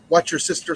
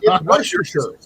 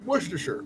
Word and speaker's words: Worcestershire: I put hamburger, onions, watch your sister sauce, and my seasoning. Yeah. Or Worcestershire, depending on how you. No, Worcestershire. I wonder how Rob pronounces it. Wash your sister's shorts. No, It's Worcestershire.